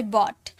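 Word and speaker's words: bought: जैसे बॉट तो इसे बॉट बोलते हैं। इस जी एच का साउंड आया इसे बॉ ट बॉट वैसे ही कॉट कॉ ट यह साइलेंट है।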